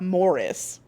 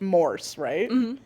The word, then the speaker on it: Morse: It's not Morris. It's not like Morris's code. It's Morse, right?